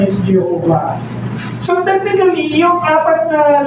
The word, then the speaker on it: Jehovah: Pero dahil nga walang vowels ang ah Hebrew Hebrew words, kinuha nila doon yung vowels na Adonai, yung apat na bawal sounds, bawal sound sa Adonai na mga English translators idinagdag nila doun sa pagitan nung apat na letters na iyon. Kinuha nila yung tatlong ah bawal sounds. Ah a o a okay sa Adonay T's inipit nila doun sa tatlong tatlo sa apat na letters. So naging Yahova siya.